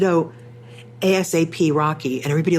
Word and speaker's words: ASAP Rocky: I said, "Oh, ASAP Rocky." And everybody like roll their eyes. It's like, "It's ASAP Rocky. It's not ASAP."